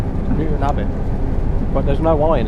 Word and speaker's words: Newton Abbot: The way I say Newton Abbott, it's not Abbott, it's Abbott. Cuz it sounds like I'm saying habit, but I'm not pronouncing the H. Newton Abbott.